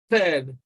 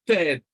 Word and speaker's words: third: Now, if you remove your tongue entirely from your teeth, which is what makes it dental sound, you will pronounce T, and that's why you hear a lot of people saying third. You know, he came third. That is a mispronunciation.